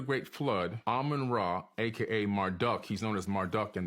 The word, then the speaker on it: Marduk: shitu after the great flood Aman raah AKA Marduk he's known as Marduk in the Bible m-